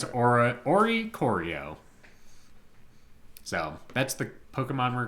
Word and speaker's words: Oricorio: Yes, and it's Oricorio.